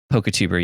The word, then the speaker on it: Poketuber: just say polka tuber poketuber yeah that's what we call ourselves like pokemon youtuber poketuber the the accent on the e is really important also would be poketuber and we don't want